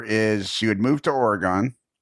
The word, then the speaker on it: Oregon: I think it's Oregon. It's kind of like Toronto. The the the second G is really barely pronounced Oregon.